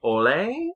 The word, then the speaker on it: Hole: And he's playing, Detective Harry Ole, I believe is listen, it's spelled Hole. Detective Harry Hole. But it's this very popular series of books. Nope. Harry Hole.